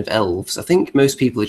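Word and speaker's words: Aelves: And as far as the pronunciation of elves, I think most people are just going with elf, and the A is silent, just there for aesthetics.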